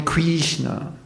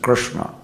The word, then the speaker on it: Krishna: Mantra because it's not don't call me Krishna my name is Krishna that's the actual pronunciation so how many devotees